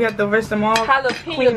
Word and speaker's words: jalapeño: Jalapeño. The J is silent.